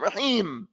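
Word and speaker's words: الرَّحِيم: Where's the meme? Rahim. You don't hear it.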